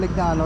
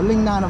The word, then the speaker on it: Lignano: may Nab ako dati yung pagkakasabi ko L naano Leng naano pala kumbaga yun ang pronunciation sa pron ang pronunciation sa Italy talaga oo yan mga dra